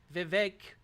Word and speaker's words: Vivek: Vivek it rhymes with cake having a good time